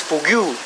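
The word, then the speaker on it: fugue: So he's out of this fugu.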